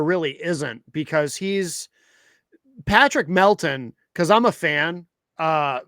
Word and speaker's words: Melton: And and Melton Joe Joe can't even say his name right. His name is actually Patrick Melton. M L T O N.